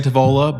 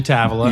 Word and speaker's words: Tavola: Some people say Tavola, but it's actually Tavola. Yes, sir. So we get it Yes, right. Sir. Yeah, that's the way. Everybody like, but Tavola is how we pronounce it.